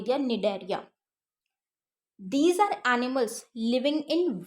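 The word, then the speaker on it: Cnidaria: Next है हमारा कोलेंटेरेटा या फिर निडेरिया। ठीक है। अब सी इसमें साइलेंट है, निडेरिया।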